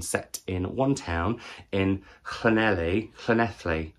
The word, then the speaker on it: Llanelli: Penultimately, I read Local Fires by Joshua Jones, a short story collection set in one town in Llanelli. I always say it wrong. Llanelli, I think, is right.